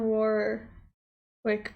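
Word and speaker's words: Warwick: Whitney Houston's cousin Dion Warerwick pronounces the second W in her surname.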